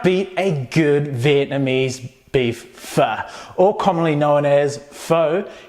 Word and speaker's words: pho: Now, you can't beat a good Vietnamese beef pho, or commonly known as pho, and I've even heard it pronounced as po, but it is a popular Vietnamese rice noodle soup, which you can find pretty much anywhere.